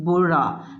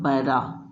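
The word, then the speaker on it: بُرا: Okay, it means that you have to pronounce it Bura, not Bara.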